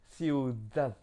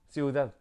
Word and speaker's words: ciudad: prononcer D en français, soit s'il y a un A entre deux lettres D, donc ça fait DAD, en fait, on prononce un peu comme un TH anglais. Je ne sais pas comment expliquer ça, mais c'est un TH anglais plus impulsif.